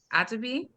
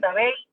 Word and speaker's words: Atabey: celebrate deities such as Atabi. Atabi? Is that how you pronounce it? Atabey. Atabey. Atabe. Yes, sorry, I'm not Puerto Rican.